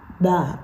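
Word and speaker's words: Bâ: a letter by mirama ba B I think you pronounce it be because it's an a um yeah it's um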